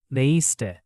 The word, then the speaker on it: leíste: Same with leíste. Read as leíste. Don't squash it too much.